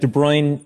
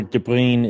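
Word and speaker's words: de Bruijn: were mispronouncing it um jonathan's right it's dutch which means you have to kind of gargle while you're saying it but de bruyne or debrine is about as close as anybody from around here it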